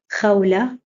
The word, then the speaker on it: Khawla: So if we have words like Khadija, it is written KH and pronounced Khadija. Khalid, Khalid. Khawla, Khawla.